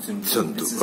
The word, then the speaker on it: Tsundue: You can pronounce as you like it. All right, thank you. But I like to say Tenzin Tsundue.